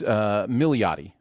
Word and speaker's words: Milioti: There's another syllable in there. I think it's Milioti, I think is what it is.